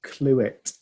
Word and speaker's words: Clewitt: I'm fine, and my name is Clewitt. Clewitt. Okay. Yeah. E-T-T? ETT, yeah. That's correct. Okay, great. Mr. Clewitt got Thank you.